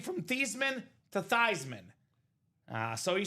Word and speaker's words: Theismann: Because it's not pronounced Thiesman. It's not pronounced Theismann. It's pronounced Theismann. Joe Theismann.